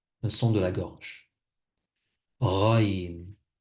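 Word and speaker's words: غين: Raïn. Raïn ressemble un peu au R en français. Par exemple, dans ra, rou, ri. C'est comme ça que ça se prononce en arabe.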